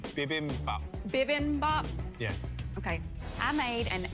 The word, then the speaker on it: bibimbap: is a coconut jasmine bibby bop bb bop bb mop bimmy bop beam above bad no idea what i mean sorry can you tell me how to say it correctly bibimbap yeah okay i made